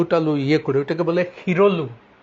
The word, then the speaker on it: শিরলু: ওখানে যে ওরা আলু টালু ইয়ে করে ওটাকে বলে হিরলু, মানে শিরলু, শিরলু মানে অসমীয়া উচ্চারণে হিরলু, এটা ঋগ্বেদ থেকে আসা।